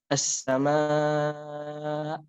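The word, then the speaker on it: السماء: Makanya ketika kita berhenti di sebuah kata yang akhirnya hamzah itu harus dijelaskan. Seperti contoh as-sama. Nah, itu hamzah yang terakhirnya itu harus dijelaskan, dan ini belum ada ya di Fatihah.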